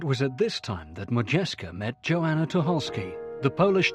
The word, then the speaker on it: Modjeska: She changed her name from Mojayska to Majesca for ease of American pronunciation.